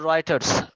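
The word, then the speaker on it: Reuters: দেখছো এটা আগে আর চি না স্যার এটার উচ্চারণটা হলো রাইটারস নাম শুনছো ইয়েস স্যার শুনছি মনে হচ্ছে হ্যাঁ কিন্তু এটার বানানটা আসলে রাইটার্স এর মত হয় না আর ইউ টি ই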